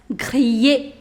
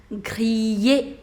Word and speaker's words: griller: To grill, that's griller, griller. Again, you have I-double-L, so you do not pronounce double L, griller.